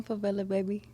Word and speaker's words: Favelababy: Hey, I'm Favelababy.